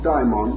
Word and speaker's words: daimon: For many years, I made a point of dividing the pronunciation, calling one our familiar term demon, and the Greek form daimon or daemon. The dictionary, however, prefers us to use the same pronunciation.